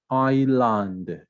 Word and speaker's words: island: the h is silent island the s is is uh silent knowledge knowledge k is